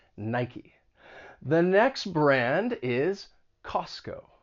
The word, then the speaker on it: Nike: before they make shoes but nike has two syllables in the past i've heard people say nike with just one syllable but it has two syllables named after the greek goddess of victory nike the next brand is